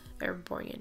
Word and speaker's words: Erborian: Erborian, yes, I said it right.